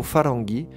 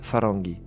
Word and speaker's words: farangi: Le mot farangi qui est la prononciation iranienne du mot franc.